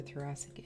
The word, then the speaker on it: thoracic: Okay, so we've got presentation varies, difficult to diagnose, usually associated with other thoracic injuries.